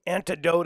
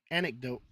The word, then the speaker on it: anecdote: It's antidote of a houndsman. Yeah. Antidote. There's no T in it. Antidote of a houndsman. Is that how you pronounce it? Anecdote.